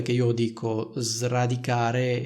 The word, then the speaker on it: sradicare: non srotolare un altro esempio potrebbe essere dovresti sradicare le cattive udini dalla tua vita Cosa significa